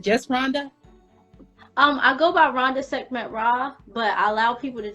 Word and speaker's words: Rhonda Sekhmet Ra: Rhonda Sekhmet Ra. Rhonda Sekhmet Ra.